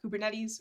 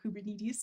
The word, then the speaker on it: Kubernetes: that generally we recommend using kubernetes or kubernetes depending on your preferred uh pronunciation or some other